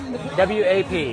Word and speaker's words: WAP: W-A-P. Well, it's WAP. WAP. Sorry, WAP. If I'm going to say it, I'm going to say it right.